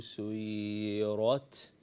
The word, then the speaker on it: سُيِّرَتْ: to do is that we need to read it as silent ta. Pay attention. وَإِذَا الْجِبَالُ سُيِّرَتْ. Ra is a full mouth letter, whereas ta is again a silent letter.